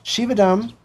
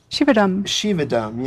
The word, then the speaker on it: Shivadam: And what does Shivadam mean? Shivadam. Shivadam, yes, is the proper pronunciation.